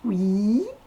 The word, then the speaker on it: we: Donc W-E se prononce oui, avec un I long, d'où les deux petits points.